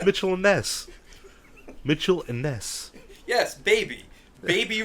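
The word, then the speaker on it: Mitchell & Ness: it's made by yeah it's not Mitchell and Nest it's not two people I don't think well how come it says Mitchell and NES like that's what it said Mitchell it's not how you pronounce it what am I supposed to say Mitchell andess yeah yes there you go no that's like a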